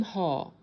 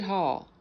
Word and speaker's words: Haugh: Marines arrested General Tim Hall. I think I'm pronouncing that correctly. It's Haugh, former head of U.S.